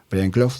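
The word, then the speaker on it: Brian Clough: Estamos hablando el la película se centra sobre la imagen de Brian Claw. Prenlof sería una pronunciación más o menos bien y Peter Taylor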